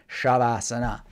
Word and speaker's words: shavasana: thing call it shavasana sometimes spelt with an H sometimes just with an S but even with just an S it's apparently in the in the sanskrit spell earth pronounced shavasana so this means just